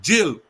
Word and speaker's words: gaol: But I like to call it GAOL. And that is pronounced in English as jail.